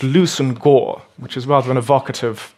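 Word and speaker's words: Leveson-Gower: here lvis and GA with the chaotic pronunciation of English pronounced loosen Gore which is rather an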